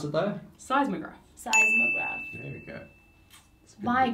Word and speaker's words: seismograph: How do you pronounce it, though? Seismograph.